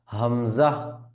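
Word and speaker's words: همزة: হা আচ্ছা পরের বর্ণমালা হামজাহ হামজা হামজা এইযে দেখুন ক্রস চিহ্ন এই হামজা উচ্চারণের ক্ষেত্রে কোন রকমের কোন টান হবে না এজন্য ক্রস চিহ্ন আচ্ছা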